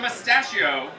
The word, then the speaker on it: Mustachio: He doesn't want to disclose his name, but his mustache's name is the Mustachio. Rhymes with pistachio.